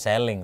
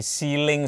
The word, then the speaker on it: ceiling: Karena lu nyebutnya juga salah, pronounce bukan selling tapi ceiling Ya speakernya.